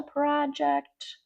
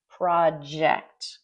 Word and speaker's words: project: Okay, our first clause, clause number one, we will have finished the project. Project. Be careful with that pronunciation. Project. Can you say that? Project. Ject. Very common mistake.